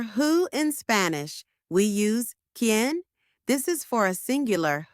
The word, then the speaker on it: quién: For who in Spanish, we use ken.